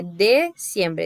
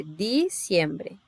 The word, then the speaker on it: diciembre: Ó, não é dezembro, é diciembre, tá?